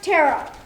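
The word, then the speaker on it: Teara: Her name was Tara. T-E-A-R-A. But it's pronounced Tara.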